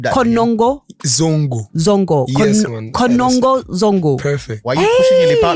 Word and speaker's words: Konongo Zongo: That's where I'm from, Konongo Zongo.